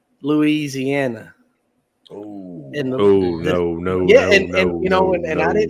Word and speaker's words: Louisiana: with the Appalachian region if the way you're saying it creates unnecessary syllables you're saying it wrong that's everything yeah well you're saying I can't even say it right but it's Louisiana yeah it's Louisiana I